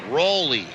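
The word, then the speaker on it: Roelle: ball four for rolly he spells his name r-o-e-l-l-e but it's pronounced rowley appearance no record no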